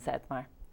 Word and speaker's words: Zettmar: main one is just my name and satmar so yeah you can find me there so